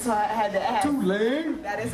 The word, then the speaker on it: Tulane: you know, I did not know how to pronounce who they were playing against, so I had to ask. Tulane. That is how you say it. So now I know how to say Tulane properly.